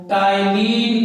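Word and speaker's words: ptyalin: salivary amylase है, और आप इसको टाइलिन के रूप में भी जानते हैं। यहाँ पी साइलेंट है।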